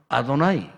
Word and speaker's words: 아도나이: 유대인들이 절대로 여호와라는 이 단어, 이 발음을 안 합니다. 문자는 분명히 여호와야. 문자는 여호와로 적혀 있는데 그게 사이사이에다가 히브리 모음을 삽입해가지고 어떻게 읽냐면 완전히 다른 말로 읽습니다. 여호와인데 읽기로는 아도나이. 이 아도나이라는 말은 뭐냐면은 주인이라는 뜻이거든요.